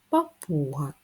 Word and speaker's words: папуга: і останній звук а папуга треба поставити наголос папуга наголос на у на другий склад Подивіться надковану та писану